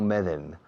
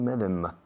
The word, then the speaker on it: Medem: No Meden, como dicen todos los españoles. No es Julio Medem, es Julio Medem.